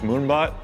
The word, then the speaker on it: Moonbot: this printer's name is moonbot it rhymes with moonshot and it's about a